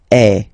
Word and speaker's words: es: Okay, and for tu, then you've got this combination of letters. Okay, but then basically the sound you will pronounce or you will produce is est. Okay, tu es.